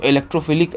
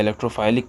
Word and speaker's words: electrophilic: इलेक्ट्रोफिलिक कह लीजिए या इलेक्ट्रोफाइलिक कह लीजिए, प्रोनाउंसिएशन कुछ भी हो, स्पेलिंग सही कर लीजिएगा, ठीक है, तो उससे काम हो जाता है। इलेक्ट्रोफाइलिक भी पढ़ते हैं कुछ लोग इलेक्ट्रोफिलिक भी कहते हैं।